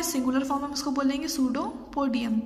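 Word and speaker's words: pseudopodium: और देखिए सूडोपोडिया plural form है, सिंगुलर फॉर्म हम उसको बोलेंगे सूडोपोडियम। पी जो है इसमें साइलेंट है। This help in movement and capturing food. अब सूडोपोडिया या सूडोपोडियम क्या करते हैं, मूवमेंट करने में और उनका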